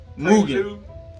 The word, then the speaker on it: Mugen: Mugen.